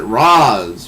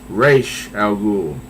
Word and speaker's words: Ra's al Ghul: Now, some people pronounce it Roz for some reason.